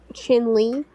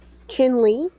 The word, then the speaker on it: Chinle: where chin Le is did you say Finley chinley chinley Arizona no it's um spell it sorry uh c h i n l e say it one more time chinley CH h i n l e l e